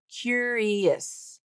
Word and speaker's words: curious: of that word, um, that last syllable is o us. So, it's going to be tricky, right? Because she's not pronouncing it like o us. She's not saying o. She's saying is is. She's using the short i hit bit vowel.